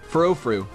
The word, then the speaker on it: Furfrou: He leads off with this Pharaoh-Fru. I don't know how you pronounce it. I'm gonna call it Pharaoh-Fru. He leads off with Pharaoh, and that's awesome. Furfrou. That's how we call it.